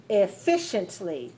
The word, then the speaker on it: efficiently: say it watch me efficiently four syllable stress the second efficiently okay if we